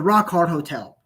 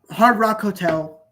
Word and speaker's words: Hard Rock Hotel: Oh yeah, the Rock Hard Hotel. Wait. It was like the shape of a guitar. I hope I said it right. Yeah, Rock Hotel, Hard Rock Hotel.